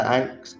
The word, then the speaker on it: ankh: With the anks flying in the sky as well. I believe they're anks anyway. Yeah, they are anks. So if that's how you pronounce that word. ANKH. I think it's pronounced ank.